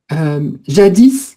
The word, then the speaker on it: jadis: jadis. Donc on prononce toujours le S, hein, ça veut dire autrefois.